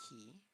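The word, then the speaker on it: き: Now just add the same hard K sound from the next vowel to make it a ki, which is pronounced like ki. Ki.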